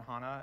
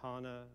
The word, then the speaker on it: HANA: you pronounce handy to Hana Hana I guess the proper German is that is a longer a but the Anglo Canadian I will dictate is a shorter a so Hana and and yeah so